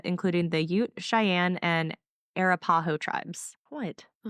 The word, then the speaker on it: Arapaho: Many other Native American cultures later lived in this area, including the Ute, Cheyenne, and Arapaho tribes. What? Oh, how do you say that? Arapaho.